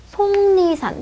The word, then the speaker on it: 속리산: 그리고 기역과 니은이 만나서 다시 발음이 어떻게 나요? 속리산. 비음화가 일어나죠.